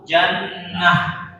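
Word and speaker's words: جنة: Tapi kalau seandainya bulat, nah itu baru jannah, jannah.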